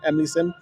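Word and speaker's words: Emily Syme: Emily Sim, pronounce it? Emily Sim.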